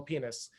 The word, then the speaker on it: Pines: from hebrew university his last name is spelled p-i-n-e-s which should translate or should be pronounced as pines but apparently in his life he was insistent on being called penis um and i think that shows that academics